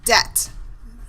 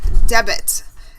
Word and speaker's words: debt: it correctly so debt this B is silent it's pronounced debt okay it's not pronounced debit it's pronounced debt okay